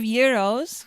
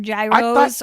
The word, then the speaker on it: gyros: there's another word that a lot of people mispronounce it's the greek euro mario we serve euros europe we don't we don't serve gyros or gyros it's a euro i thought that